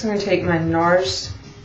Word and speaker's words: NARS: Next I'm going to take my NARS, it's really NAR, I don't pronounce the S, but anyhow, smudge brush, number 15.